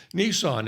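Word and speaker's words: Nisan: it's the first month in the hebrew calendar nissan and that's how you pronounce it right strong's h 5212 nissan nissan nissan nissan first months what does that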